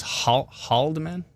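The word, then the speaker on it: Haldimand: gone so many questions not a silent h says george see so it's haldeman the h does get pronounced oh okay haldeman i think uh godrich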